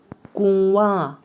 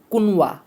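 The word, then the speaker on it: کنواں: এখানে অনেকে বলতে পারেন হুজুর এটা তো হবে কুনওয়া, কুনওয়া হবে। কাফের পরে নুন আছে দিয়ে স্পষ্ট দেখতে পাচ্ছি। না, কাফের পরে যে নুনটা আছে ওটা আসল নুন না, এটা নুনে গুন্না। এটা কি গুন্না? নুনে গুন্না। এই জন্য এর উচ্চারণ হবে কু, গুন্না হবে কু ওয়া, কু ওয়া।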